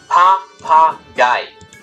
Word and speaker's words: Papagei: Again, it's three syllables this time. Papagei.